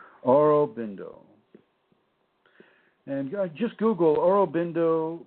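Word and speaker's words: Aurobindo: u r o b i n d o oro bindo and just google oro bbindo bingo bindo or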